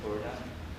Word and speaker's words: Purna: So my name is Purna.